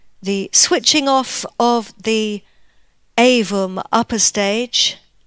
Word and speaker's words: AVUM: In part one, we followed the launch up until the switching off of the AVUM upper stage, or AVUM, it's often pronounced in French.